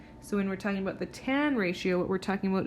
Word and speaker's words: theta: Theta is a Greek letter. It's pronounced theta.